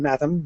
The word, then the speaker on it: Matham: For example, Bolger has a G as in bulge, and Matham rhymes with fathom.